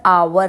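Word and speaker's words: hour: and Eyre an ऑनर तो यहां पर आवर है आवर की साउंड हार एच नहीं है आर है सो एच is silent hair दैट्ची ही सॉ अ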